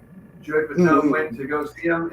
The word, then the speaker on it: Fatone: They call him Fat One, but it's pronounced Fatone, Kind of crazy.